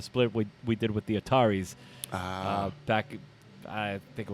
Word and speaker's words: The Ataris: of Summer cover yeah I heard that you you pronounce it Ataris I heard somebody on the radio they said that's something something address I'm like what like it's The Ataris no that's one of the common mistakes about the is yeah so